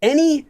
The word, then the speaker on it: 의: Let me give you an example. Again, the way this works is like the possessive marker 의, which is pronounced as a when it's used as the possessive marker.